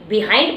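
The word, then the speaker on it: behind: देखो spelling same जा रही है, लास्ट का अगर आप देखोगे बी ई एच आई एन डी बिहाइंड बोलते हैं हम और डब्ल्यू आई एन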